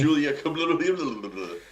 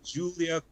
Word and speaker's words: Giulia: Julia. Wow, that was the worst pronunciation. Quadrifoglio? Yeah. The Julia Quattrofingero. The Giulia Quadrifoglio.